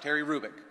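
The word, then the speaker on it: Terry Hrubec: HR ubec Terry kic the h is not pronounced Terry rubic she did studies of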